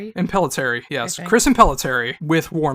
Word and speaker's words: Impellitteri: I never know how to pronounce his last name. Impellitteri, yes.